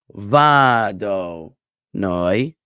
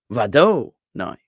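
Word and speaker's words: וַאדֹנָי: So it's vado noi, like that, with va emphasized and noi emphasized and do de-emphasized. Okay, so and not vado noi, right?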